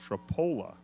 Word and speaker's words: Tripoli: hinkle i appreciate it she says it's pronounced tripola trapol up even though it's tripoli and just in an